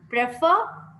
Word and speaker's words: prefer: Prefer, prefer. Pre is one syllable, fur is another, prefer.